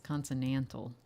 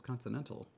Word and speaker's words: consonantal: Well, according to this dictionary, we're both wrong, and it's consonantal. Nobody says that. It's consonantal.